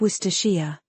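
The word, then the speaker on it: Worcestershire: Many try to pronounce all the letters but there are many silent letters there. Right. Exactly. The key is to simplify. Think Woria.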